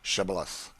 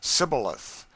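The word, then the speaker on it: Shibboleth: to let none pass who could not say shibalath the ephraimites being of a different tribe could not frame to pronounce the word right but called it sibilith which proved them enemies and cost them their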